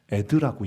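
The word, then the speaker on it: עד: 이 아인과 달렛을 합치면 에드라고 읽습니다.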